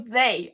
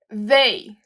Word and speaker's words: they: Do plural, nós temos o we, you e o they. Ó, o TH, sempre no inglês que nós temos o TH, nós pronunciamos esse TH com a língua entre os dentes. Então fica they.